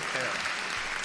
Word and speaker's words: Farrar: Farrar. I learned how to say it correctly.